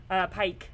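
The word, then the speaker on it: Paik: So one of my favorite Neo-Dada artists is Nam June Pyeok, Pike. I think is actually how you pronounce his last name.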